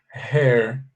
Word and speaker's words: hair: Her, fechado, é a pronúncia da palavra dela, tá bom? E cabelo se fala com E aberto. Você fala assim, ó, hair.